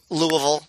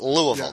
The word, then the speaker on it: Louisville: i'm a louisville guy louisville right that's how you pronounce it louisville not louisville um hey the louisville